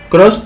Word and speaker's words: Krause: Cross se escribe K-R-A-U-S-E.